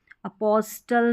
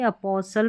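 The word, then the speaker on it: apostle: यानी एस टी ई एन में जो टी है यह साइलेंट रहेगा। फिर नेक्स्ट देखें। यहां पर है इसको अपॉस्टल नहीं अपोसल। अपोसल अपॉस्टल नहीं पढ़ेंगे। अपोसल पढ़ेंगे।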